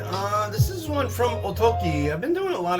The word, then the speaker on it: okki: It's Oki, not Ogi. Oki is uh, what they're calling it here in the United States now. probably more like the correct um way to pronounce it.